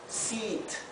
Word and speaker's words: seat: Aquí, en cambio, la E con la A, como dijimos, se pronuncia igual que la doble E. Es una I larga. Por eso en la fonética lo he escrito con doble I, con dos I, para que sepa que se pronuncia largo.